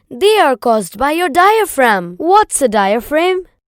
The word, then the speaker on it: diaphragm: Not diaphragm, it's diaphragm. And it is pronounced as diaphragm.